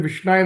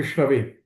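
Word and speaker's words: विष्णवे: So Vishna, if someone says Vishnaya Nama is wrong. But it's supposed to be Vishnave.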